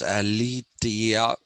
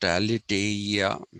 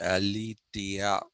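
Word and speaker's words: ἀλήθεια: i told you in greek is ali it's pronounced as eliteia not alitaria it's pronounced elitia then we have the second view which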